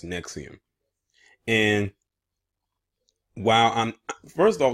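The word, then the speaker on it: NXIVM: sex organization called nexium I know I kept calling it NX I'm in XVI him or whatever I was calling it but it's actually pronounced next to him and while I'm first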